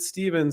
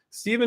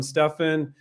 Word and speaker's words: Stephen: or a v but a lot of people with the ph still pronounce it with a v like steven so i i don't call him stefan he doesn't want to